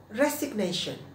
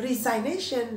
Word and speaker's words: resignation: artinya mengundurkan diri nah kata Bendanya adalah resignation nah bacanya bukan resign Nations banyak fans teman-teman pacarnya resign karena berpikir dari desain-desain terus oh yes oh salah